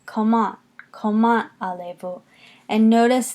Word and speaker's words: comment: coma allez-vous comment allez-vous notice in coma allez-vous that it's coma whereas in English we say comment and we have that accent more on the first syllable in French it's coma you're going to accent